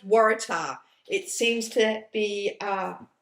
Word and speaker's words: waratah: see if you google waratah and it is pronounced waratah it seems to be uh i i never